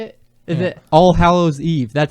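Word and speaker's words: All Hallows' Eve: All Hallows Weave. Is that how you say it? Is it All Hallows Eve?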